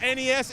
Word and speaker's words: NES: BS, NES, it rhymes. But in this case, it's not BS, it's NES.